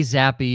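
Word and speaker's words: Zappe: want zappy it is I've actually never heard his name pronounced I always thought it was zap so okay Bailey zappy is how it is uh pronounced I hope it is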